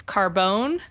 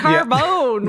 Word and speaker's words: carbone: in French it was Carbone which is just carbon with an E uh which might have been pronounced how they pronounce it yeah Carbone with the emphasis on the bone uh which was then